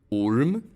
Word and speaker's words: orm: However, the short U sometimes sounds like U. This is probably the most inconsistent thing about Swedish spelling. Orm.